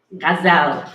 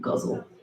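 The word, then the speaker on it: ghazal: Gazelle, that's how you say it, you guys. It's not guzzle.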